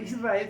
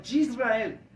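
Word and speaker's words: ישראל: en el Antiguo yisrael porque no se lee no se escribe Israel sino yisrael debido a que en Israel no está la J la J no existe en en el lenguaje hebreo por eso la traducción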